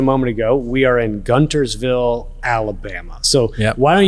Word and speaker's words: Guntersville: okay this is what's funny so it is gunter's feel right g-u-n-t-e-r-s by the way my phone keeps